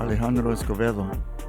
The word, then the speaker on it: Alejandro Escovedo: Alejandro Escovedo. Yeah. Is that how I say it? It's close. How do you say it? Alejandro Escovedo.